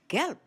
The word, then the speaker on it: gelb: Gelb. Gelb. The word is spelled G-E-L-B. The ending B in a word in German is pronounced as P.